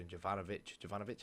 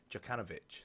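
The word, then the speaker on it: Jokanović: And obviously they brought in a new manager, Jovanovic, how do you pronounce it? Djokanovic, that's it, last season.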